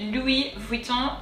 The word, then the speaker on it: Louis Vuitton: it's going to be louis vuitton let's take care of the first word um so remember oh you is the s is silent and then the second word so here o n louis vuitton let's go